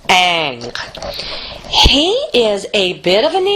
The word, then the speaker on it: Ingres: Our next painter is Ingres. It looks like Ingres, but it's pronounced Ingres.